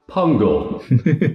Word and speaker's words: pungle: here is your word pungle pungle pungle is that spelled like it sounds yep it is jungle with a p six letters gotcha that